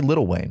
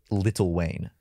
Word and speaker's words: Lil Wayne: It's pronounced Lil Wayne. How it's spelled. It's spelled L-I-L, but it's pronounced Little Wayne.